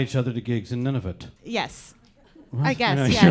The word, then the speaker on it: Nunavut: Nunavut, yes. I'm having none of it. None of it, yes.